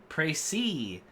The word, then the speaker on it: précis: Précis. Précis. It's like that kind of thing. What the précis? Very fancy word. You know it's fancy because it sounds French.